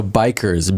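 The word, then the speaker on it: BiCRS: out for our listeners so yeah so bikers B little I CS is biomass carbon removal and storage um so we say bikers uh some people who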